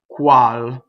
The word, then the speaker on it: Qual: this aria first word cual okay so when you do qu you make sure that you come from up here coo coo coo coo all right don't start from an American place crawl back there where we